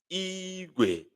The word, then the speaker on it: igwe: And it sounds Igwe. Igwe. Igwe. Igwe. High, low. Igwe.